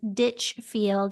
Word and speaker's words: Ditchfield: And I just want to let the audience know that your last name is Ditchfield, and it's spelled exactly like it sounds, Ditchfield.